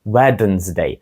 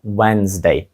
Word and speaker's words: Wednesday: даному слові є D тобто мало б звучати щось типу wedensday але звучить це просто жахливо Отже літера D яка є третьою в даному слові взагалі не вимовляється вимовляється це wedesday але написати її все рівно потрібно Отже скажіть ще раз